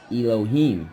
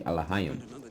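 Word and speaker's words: אלוהים: Now, the word that they use in this show of Kings and Prophets is they use the word Elohim, which in the correct pronunciation it would be Alahayim, all right, which means angels, right?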